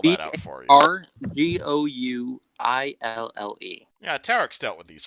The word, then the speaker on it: Vargouille: Vargouille. Yeah, Tarek's dealt with these fuckers before. G-O... I linked it in session stuff. Vargouille. Alright. Vargouille. Like wheel.